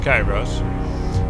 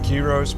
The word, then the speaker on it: Kyros: Okay, so it's pronounced Kairos. I'm actually going with Kyros because Kyros in Greece means, respect and status, and so it's actually a fitting name.